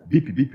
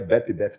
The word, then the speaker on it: Bip Bip: Esse nome a gente usou eh bem no comecinho da empresa e a gente Bip bip mesmo. BP BP BP BP seria BEP BEP também é bip bip.